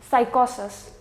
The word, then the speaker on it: psychosis: psychology psychiatrist psychedelic and psychosis in all of these six words the P is going to be silent now when we come